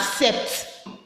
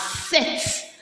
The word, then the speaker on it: sept: Some of you think 7 is pronounced as sept. Sept, because the P is there. No, it's pronounced as set. That P is what? Silent.